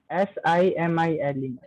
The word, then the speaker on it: simile: S-I-M-I-L-E. That is smile or simile? What we will pronounce? Simile or smile? Simile, ma'am. Simile.